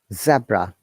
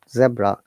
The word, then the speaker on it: zebra: next one is around zebra uh this sounds ever very interesting because in british english we call it zebra in american english and canadian english they pronounce it zebra you see zebra and